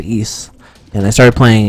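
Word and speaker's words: Ys: It's spelled Y-S, and it's pronounced East. And I started playing East Origins.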